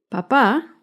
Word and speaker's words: papá: Papa lleva el acento en la primera sílaba. En cambio, papá lleva el acento en la segunda sílaba.